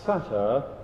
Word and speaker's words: satyr: So we'll pronounce that satyr as in Saturday.